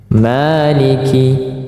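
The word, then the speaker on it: مَالِكِ: masuk yang keempat nah Maliki dua harakat juga ada juga yang membacanya pendek tetapi untuk kita di kalangan Indonesia ya Ini dibaca pada umumnya panjang ya Maliki Maliki tidak boleh lebih dari dua harakat saking asiknya tidak boleh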